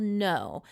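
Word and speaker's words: Noh: So he takes us to this theater where he has performed something called no but it's spelled N O H.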